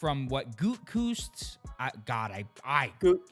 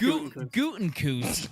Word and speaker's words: Gutekunst: Apparently, what we are going to see from not only what Gutekunst, that was horrible. Yeah, you butchered that. It's Gutekunst, the GM, is suggesting, and Halfley.